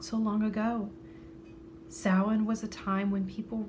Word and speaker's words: Samhain: The woman called this harvest and time of year the Feast of Samhain. Smiling, she said the strange word, so it seemed to rhyme with plowing.